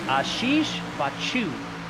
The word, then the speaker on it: Ashish Bachu: He said it's like you're sneezing, so it's Ashish Bachu.